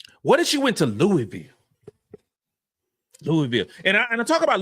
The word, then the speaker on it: Louisville: The question, like Louisville, would be, the second that she arrives on campus at Louisville, not Louisville, Louisville, that's how they say it, Louisville.